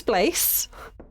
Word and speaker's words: Blaise: My name is Blaise. Rhymes with Grace.